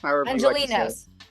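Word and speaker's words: Angelenos: Angelinos. That's the word. Because I said it in sort of like Spanish pronunciation, Angelinos. No, I mean you mean Angelinos.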